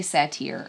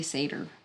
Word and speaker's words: satyr: I say satire, or I was saying satire. I've heard it satyr? And yeah, you say satyr. I don't know if that's right. Satyr later.